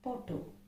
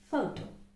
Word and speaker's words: photo: represented by the phoneme sometimes people we have heard people calling it potto right so that is it so that's a mistake it's photo photo next is again another